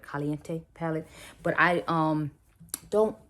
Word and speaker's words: caliente: and i have his caliente palette as caliente i'm sorry let me say it right caliente palette but i um